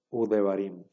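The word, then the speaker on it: וּדְבָרִים: una Shure Y entonces en lugar de que se lea de barim ahora se va a leer u barim u esta Va a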